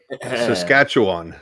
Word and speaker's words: Saskatchewan: Saskatchewan, however you say it. Saskatchewan. Exactly as you spell it.